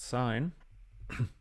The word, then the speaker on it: sin: And I'm going to write sin, pronounced sine, of theta.